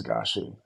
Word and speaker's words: Gashi: The real way to pronounce it is GASHI.